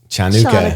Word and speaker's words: Hanukkah: branding some people say Hanukkah some people say chanuka they still say Hanukkah